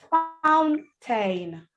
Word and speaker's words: fountain: But there are words where AI will not say A. So I need you to know this word so you don't pronounce them with A. You don't say fountain, fountain. No, it's fountain, fountain.